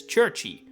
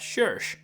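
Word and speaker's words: Cherche: I have always pronounced the female women writer from Awakening as Churchy. But this video made me think about it, and I'm pretty sure the name is supposed to be based on the French word, which means search, and thus the name is pronounced as shir, not chi.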